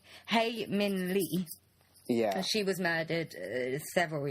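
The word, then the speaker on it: Hae Min Lee: think her name is Halen may he Min Le not Halen May hey hey Min Lee yeah she was murdered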